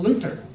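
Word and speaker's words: Luder: was actually born Martin Luther spelled with the D is pronounced like a tee Martin Luther and his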